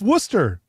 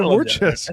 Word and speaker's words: Worcester: It's Worcester. It's pronounced Worcester. You said Warchester.